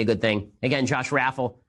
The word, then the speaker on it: Raffel: Again, Josh Raffel, I think it's pronounced Urfel, is a press aide whose initial portfolio is primarily focused on Kushner and Ivanka.